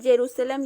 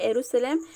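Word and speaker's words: यरूशलम: है, और इजराइल की राजधानी है जेरूसलम या एरूशलेम, आप कैसे भी उच्चारण कर सकते हैं।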